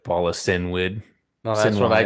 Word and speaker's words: Cynwyd: But yeah, they end up in Vita's hometown, Sinwyd, CYNWYD.